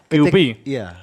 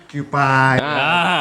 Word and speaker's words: QP: jadi emang sih banyak orang bilang QPI. Aku tadi baca Q. Mungkin yang apalah sebutannya. Iya. Sebetulnya baca itu simple QP. QP. QP. QP. QP. QP. QP. Ya. QP. QP.